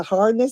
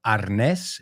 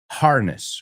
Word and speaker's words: harness: And remember, in English, as she pronounced it, it's not arnés, it's harness. Muy parecido, pero cambia. Se pronuncia la H y el estrés está en otro sitio.